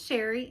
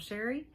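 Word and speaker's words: Chere: My name is Sherry, and that is spelled C-H-E-R-E. It is spelled a little fancy, but pronounced plain old Sherry.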